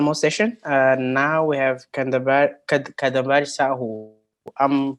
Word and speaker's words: Kadambari Sahu: Now we have Kadambar Sahu. I'm pronouncing your name correctly, right?